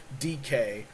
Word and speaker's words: Dike: Okay, I've drafted a player called Chimera DK, but it's spelled Dyke, and I spent like a podcast saying Dyke, and Florida fans were just lighting me up. Left and right. I was like, what do you mean DK?